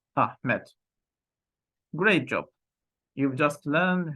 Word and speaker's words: Ahmet: it's ahm let's try to pronounce after me okay ah met great job you've just